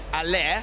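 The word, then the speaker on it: Haller: I'm very delighted to say Allaire, which is the official pronunciation by the way, at West Ham has got a one-to-watch item.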